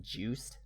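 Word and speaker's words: Juste: succeeded by simon's grandson justin belmont but it's pronounced juiced juiced yeah apparently his name in french means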